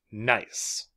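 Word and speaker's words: gneiss: a metamorphic rock holds nice nice like like Naughty or Nice Nice the g is silent if I have a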